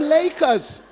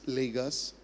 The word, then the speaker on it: Lagos: just came back from Lakers. I just came back from Lakers." Oh my god. The focus should be pronouncing Lagos as Lagos. First of all, not adding an accent.